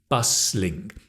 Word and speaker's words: bustling: There's a T but you don't pronounce the T, bustling.